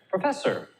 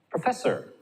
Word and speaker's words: professor: third third example there professor professor can you hear how that is louder than the first and the last syllable professor and the